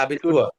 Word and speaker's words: Abitur: ওকে, später noch das Abitur und উচ্চারণটা আবিতুয়া।